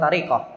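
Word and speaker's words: تركة: biasa disebut dengan tirkah bacanya orang itu biasanya ahah tirkah kan gitu Padahal tarikah ya adalah sesuatu yang ditinggalkan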